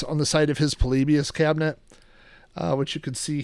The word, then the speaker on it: Polybius: I used to say polybias, but I guess it's polybius.